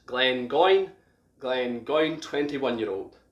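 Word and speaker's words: Glengoyne: glenn from the highland is glenn going quite easy to pronounce uh quite straightforward glenn again mean valley and going meaning goose so valley of the goose glenn going glenn going 21 year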